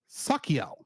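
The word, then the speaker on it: Sachiel: this episode and in the next episode is sakel MH though it's spelled s a s a c h i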